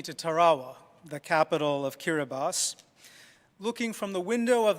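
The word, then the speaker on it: Kiribati: kirati but it the in their own language that spelling is pronounced kiribas and as I was in an airplane taking me to Tarawa the capital of kirbas looking from the window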